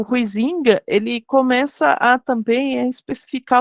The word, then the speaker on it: Huizinga: A gente, em português, a gente pronuncia Huizinga, mas na verdade a pronúncia original em holandês seria algo Huizinga, alguma coisa. Né? Eu brinco sempre, né, que eu sou caipira, então eu falo Huizinga, né, que é a forma mais aceita, né, da pronúncia em português, né, não é correto,